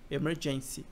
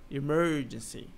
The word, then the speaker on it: emergency: você consegue entender que não é emergency, é emergency. Então é diferente a sílaba tônica, como no português não é urgência, né?